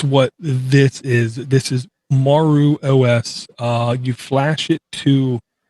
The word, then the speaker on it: Maru: And I'm going to say this is pronounced Maru.